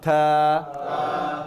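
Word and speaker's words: ث: আলিফ আলিফ দা বা থা তা না কিন্তু থা তা টি এইচ থা থা থা থা একটু আমাদের তা বলি না আসলে তা না উচ্চারণটা থা ওকে খেয়াল করেন আলিফ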